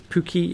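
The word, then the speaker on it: Pukki: Joachim, I hope that's right, Broberg says Pookie is pronounced the same as cookie.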